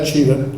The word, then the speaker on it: Tschida: So my name is Tschida. It's spelled T-S-C-H-I-D-A.